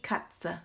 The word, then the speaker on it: Katze: Die Katze. Remember to pronounce at the end of the word.